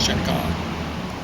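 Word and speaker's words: Cheka: So or people might mispronounce it, but I think it's supposed to said chaka.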